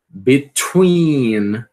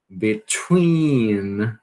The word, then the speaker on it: between: Between. Between. Então você vai aspirar por quê? Porque a sílaba tônica aqui, né?